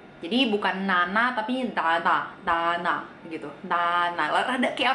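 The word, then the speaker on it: ㄷ: Huruf yang selanjutnya ada huruf D, tapi kalau dalam bahasa Korea dia dibacanya da, da. Oke? Gampangnya, kalian kayak ngomong da aja, kayak biasa da, tapi lidah kalian nempel ke gigi. Jadinya kayak kita ngomong ta, ta, ta. Kita ngomong ta gitu kan, ta, ta, ta.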